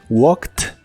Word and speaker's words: walked: En todos ellos la terminación ED se pronuncia como T. Escucha: walked, passed, stopped, laughed, fixed, washed y watched.